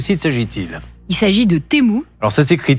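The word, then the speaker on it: Temu: semaines de quel site s'agit-il il s'agit de temou alors ça c'est écrit T e m u u ça se prononce temou ouais et c'est un site c'est une plateforme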